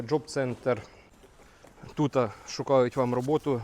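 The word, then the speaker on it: Jobcenter: Лена каже правильно читається йобцентр в Німеччині. Як був він називався Джоб-центр.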